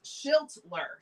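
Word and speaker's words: Schlittler: Robert says pronounced Schilt. Shiltler.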